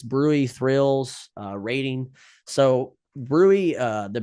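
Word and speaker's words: bruit: peripheral pulse changes Brew Thrills uh rating so Brewery uh the B rui TS Brewery is is spelled Brew but it's pronounced Brewery um is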